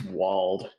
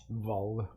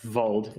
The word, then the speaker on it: Wald: I'm going to flex with this Walled. Vold. Yeah, sorry, Vold is the more correct pronunciation. I don't know if it's the actually correct pronunciation because I do not speak German.